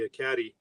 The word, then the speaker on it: Ekati: And actually, he and his partner found the Ekati. That's how it's pronounced, the Ekati mine, in 1991.